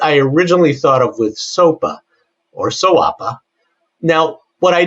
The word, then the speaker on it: SOAPA: Well, I kind of like sawa, but you know it's like kind rhymes with koala, right?